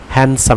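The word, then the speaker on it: handsome: হি is really হ্যান্ডসাম, হ্যান্ডসাম এটি নট হ্যান্ড, অ্যান এটি silent থাকবে, হ্যান্ডসাম, হি is really হ্যান্ডসাম, সে সত্যিভাবেই সুন্দর, সুদর্শন।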